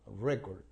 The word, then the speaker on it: record: sustantivo como Now Okay y lleva la fuerza de la pronunciación en la primera sílaba record Okay ahora bien cuando se utiliza como se pronuncia rec se pronuncia diferente aquí y las fuerza de pronunciación la segunda sílaba rec will the concert